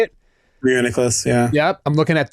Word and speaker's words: Reuniclus: Reuniclus, yeah.